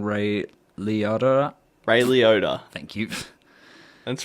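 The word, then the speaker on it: Liotta: the OA Jackson and uh excuse me for pronouncing this wrong Ray leod Ray leod thank you that's right we'll get you to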